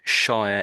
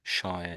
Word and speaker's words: shire: And you see it's got this Shia ending. Shia ending.